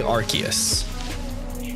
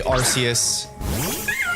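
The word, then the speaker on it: Arceus: say archus I say archus I know I know there's out there's friends of mine that say arus I say archus I don't know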